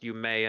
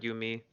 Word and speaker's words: Yume: like, if it's spelled with the E, I would imagine it's pronounced Yume and not Yumi.